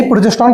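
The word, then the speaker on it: progesterone: यही प्रोजेस्ट्रोन का लिख दे क्या साथ में?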